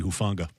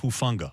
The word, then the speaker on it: Hufanga: the kid from usc hoofonga okay and give me the pronunciation again uh it is i believe talanoa hufunga okay apologies for not not even getting close to that i think my father